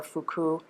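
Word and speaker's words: 腹: The character for hara can be pronounced in Japanese either hara or fuku.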